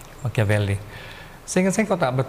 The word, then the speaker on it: Machiavelli: Dibacanya Machiavelli. CH itu kalau Itali K. Machiavelli.